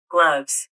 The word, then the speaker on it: gloves: gloves, 글로브스 해버리죠. 글로브스를 거의 발음 안 해요.